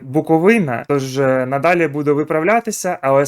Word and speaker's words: Буковина: Е, до речі, мені там підказали, що я неправильно вимовляю назву клубу. Треба казати Буковина, тож надалі буду виправлятися.